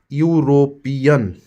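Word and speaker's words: European: ए का प्रयोग होगा यूरोपियन यूरोपियन य से आ रहा है यहां पर भी ए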